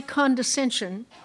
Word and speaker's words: condescension: With dry condescension, Mr. Blaine describes the natives as primitive and uncivilized. Are there any alternate pronunciations?